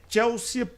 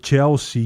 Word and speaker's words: Chelsea: Não preste esse desserviço pronunciando Chelsea em Chelsea. Isso é uma dor nos ouvidos.